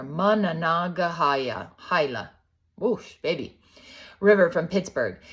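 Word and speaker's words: Monongahela: Mana the Manana gahala so that's pronounce it says on the bottom there managa hila whoosh baby River from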